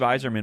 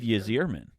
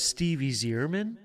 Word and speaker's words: Yzerman: First of all, you think the Y is pronounced Y, and you think the E is pronounced E. Long E.